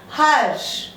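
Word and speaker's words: हर्ष: This R is pronounced before the Sh it is written.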